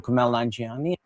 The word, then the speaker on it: Kumail Nanjiani: I'm Kumail Nanjiani. Kumail Nanjiani, Night Thoughts, Hulu.